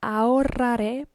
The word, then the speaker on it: ahorraré: This H is silent, so don't pay attention to it. Then the WR. Ahorraré. Ahorraré.